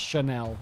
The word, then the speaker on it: Chanel: I'm not even sure if it's pronounced Chanel. It might be Channel. Yes, a perfume. Okay. You pronounced it right.